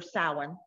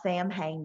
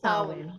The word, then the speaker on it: Samhain: It's wonderful when we talk about, how Halloween or Samhain, which is Samhain, is yeah, Samhain. the Irish proper one. pronunciation of it. It's not Sam Hain, y'all.